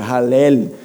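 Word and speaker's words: hallel: é um termo hebraico escreve h a l l e l então se pronuncia halel e são cânticos de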